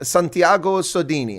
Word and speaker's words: Santiago Sodini: my second language being german so i would pronounce your name santiago sodini how close was that that's perfect yeah you